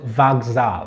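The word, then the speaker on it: вокзал: the station is called vag zal try to pronounce it like vox hall so you will say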